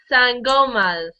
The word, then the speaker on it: sangomas: Sorry, I cannot pronounce this word. That's okay. They are known as sangomas.